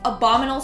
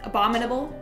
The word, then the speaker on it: abominable: few syllables cute dude I have been saying abominal snowman my entire life not abominable how do you what is it even abominable yeah that's it uh